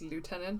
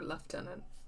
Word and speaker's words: lieutenant: One of the biggest controversies of our time is whether it's pronounced lieutenant or left tenant. Um, left tenant is the English pronunciation. Um, but everyone in this game has been pronouncing it lieutenant.